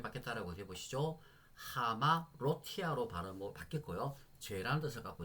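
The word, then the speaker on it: ἁμαρτία: 볼 때는 어떻게 다라고 아가 아니고 하로 발음을 바꿔서 해야 된다는 말씀드렸습니다 그러면 아마로티아가 아니고 어떻게 발음이 바뀌었다라고 해보시죠 하마 로티아로 바로 바뀌었고요 죄란 뜻을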